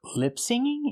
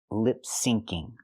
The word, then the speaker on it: lip syncing: She means to say lip syncing. There's no such thing as lip singing. The phrase is lip syncing with the C sound sync.